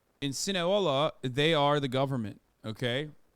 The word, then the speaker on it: Sinaloa: Sinaloa. You said Sinahola?